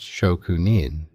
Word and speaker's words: Shokunin: This comes from Shokunin, pronounced Shokunin, the craftsman's relationship with their tools.